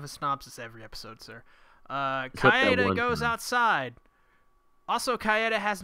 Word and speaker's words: Kaede: Kaede. Sorry, we've been saying it wrong the whole time. It's Kaede.